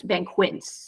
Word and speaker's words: banquets: it correctly but but in English it's it's always uhqa so it's B Quin you can't do it